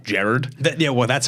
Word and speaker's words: Gerard: thirsty tweets that hits actually pronounced Jared yeah well that's how